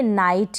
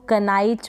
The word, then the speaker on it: knight: इसको आप पढ़ेंगे नाइट, क्या पढ़ेंगे नाइट, तो आप इसको कनाइट प्रोनाउंस ना करें। तो यहाँ पर आप समझ गए होंगे कि एन से पहले के है, के साइलेंट है।